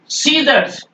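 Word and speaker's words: scissors: है मसल और सीजर्स सीजर्स यहां सी नहीं बोला जा रहा है सीजर्स और एेंट में सॉरी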